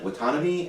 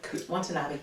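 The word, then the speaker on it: Watanabe: Uh directed and co-produced by Clint Eastwood starring Ken Watanomy and Watanabi. Watanabi. Nope. Um I do too. I just can't pronounce his name.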